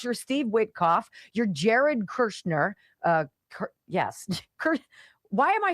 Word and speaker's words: Kushner: going on unless you're Steve Witkoff, you're Jared Kushner. Yes. Why am I saying his name wrong? Kushner? Did I say that wrong, Brock? Am I losing my mind? Kushner. Kushner.